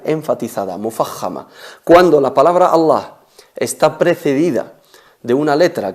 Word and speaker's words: Allah: Cualquier letra del alfabeto que precede la lam de la palabra Allah, únicamente la palabra Allah, la lam, es pronunciada con enfatización. Qul huwa Allahu ahad.